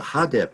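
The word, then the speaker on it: HDP: how we pronounce it you take the initials and we say so the hada party uh came into being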